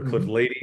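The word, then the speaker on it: Cliff Lede: There's a winery in Napa called Cliff Lady or Cliff Lady is how they pronounce it.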